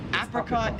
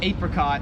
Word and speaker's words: apricot: So apricot is like the American way, but I've always pronounced it apricot, which is how like everyone in Australia pronounces it.